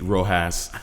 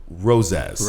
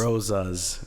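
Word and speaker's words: Rosas: again your name again because the average person it's gonna think is speed Rojas or Rosa knows less it's roses roses roses is spelled ro SAS Rose's and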